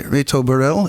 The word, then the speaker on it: Reto Burrell: songs live performed here in the studio by Reto Burrell. Is that the way to pronounce it?